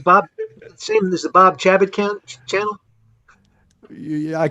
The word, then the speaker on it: Chabot: yeah i call it i pronounce it chabot you know uh but you're you're spelling it it's americanized it was shabbat but i i'm i'm kind of a feeling a little french and i call myself